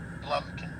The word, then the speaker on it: blumpkin: the word blumpkin. It rhymes with pumpkin.